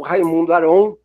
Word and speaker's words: Raymond Aron: essa noite foi o Raymond Aron, né? Várias pronúncias, estou trazendo uma pronúncia mais aportuguesada, o Raimundo Aron.